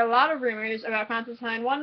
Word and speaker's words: Constantine: Hi, this is my Constantine Rhymes with Fine, Season 1, Episode 12, Angels and the Ministers of Grace reaction video.